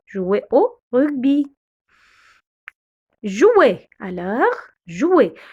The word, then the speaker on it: jouer: Alors, jouer. Le OU, on le prononce OU. Alors, jouer. Le R, on le prononce E. Alors, on dit jouer.